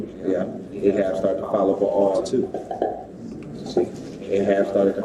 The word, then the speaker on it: Baal: He's the king of the I don't know how to pronounce the first word. Baal. They follow Baal.